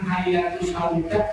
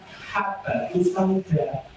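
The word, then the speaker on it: habbatussauda: Kitab yang dibaca memang hayatus sauda tapi salah tulis. Pak kelebihan titik satu dalam bahasa Arab hayat itu ya haah ta. Hayah itu artinya harusnya yang benar apa? Habatus sauda.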